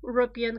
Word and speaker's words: European: a vowel estimate oh you european country you Jo in transcription remember this it's important